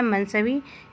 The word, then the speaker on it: मनसवी: ऊपर वाला जो उच्चारण है मनसवी यह करेक्ट है। नीचे मिस प्रिंट है यहां पर।